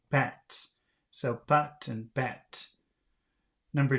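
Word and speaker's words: patte: sound different but but so with these circumflex it sounds like ah but and p-a-t-t-e sounded like if I remember correctly bats so but and bat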